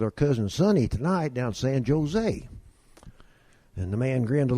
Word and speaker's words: San Jose: it's navah hose and that's not San Jose down there it's San Jose and dad said okay